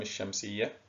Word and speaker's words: الشمس: أمثلة من اللام الشمسية كما تعلمنا الشمس، كلمة الصدق. كلمة الشمس وكلمة الصدق عندما تنطقها تجد أن كلمة الشمس وكلمة الصدق فيها لام شمسية تكتب ولا تنطق، أما عندما نتذكر بعض